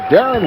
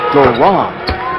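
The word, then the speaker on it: Deron: Williams off the line Darren Williams second year out of Illinois and says his first name is usually mispronounced says the PA guys often introduce him as doron and he says he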